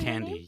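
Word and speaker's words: Thandie: Is it Tandy is how you say it? Tandy. Yes.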